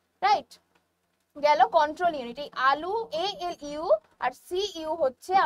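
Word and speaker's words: ALU: কি রয়েছে এল ইউ এল ইউ কি হচ্ছে উচ্চারণ আলু এই আলু কিন্তু সেই আলু নয় এটা হচ্ছে কম্পিউটারের আলু কি এই এল ইউর ফুল ফর্ম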